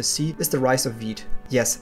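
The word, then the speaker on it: Vite: is the rise of Veet yes it's not pronounced white but wheat which is a front-end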